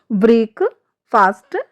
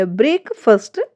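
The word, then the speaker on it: breakfast: ब्रेक फास्ट wrong है। एंड ब्रेक फर्स्ट right है।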